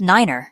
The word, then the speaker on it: niner: For instance, three is pronounced tree and nine is pronounced niner. This aims to minimize confusion caused by noise or accents.